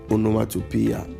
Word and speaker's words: onomatopoeia: Then we'll go to onomatopoeia. Onomatopoeia. Get the pronunciation right.